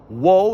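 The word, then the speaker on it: ŭo: So wo is the name of that letter, and it's pronounced just like W's are in English.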